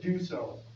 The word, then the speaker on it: Dussault: Dusault, yeah, Rick Duso, yeah, just, I don't know anything about his application other than from Huff Road, could be.